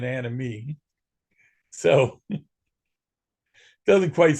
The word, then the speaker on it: Anemoi: happened here except that in the case of anoy uh in Greek the oi sound oi character sound the O is silent it's always an e sound not an I so it wouldn't be an Animo it' be an anime so doesn't quite sound